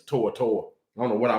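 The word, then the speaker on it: To'oTo'o: henry tortor that's his that's how he pronounced his name is tortor i don't know what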